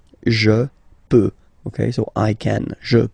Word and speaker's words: peux: Final X not pronounced here, okay? So you get X, but you don't pronounce it, so basically you get the sound peut, je peux.